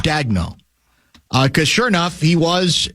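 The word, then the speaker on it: Daigneault: Do you pronounce it Dagno? I think so, Mark yeah. Dagno.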